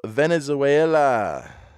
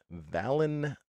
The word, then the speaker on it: Valenzuela: even mention how great he was ah Fernando Venezuela van Valenzuela apparently I've said it wrong in the past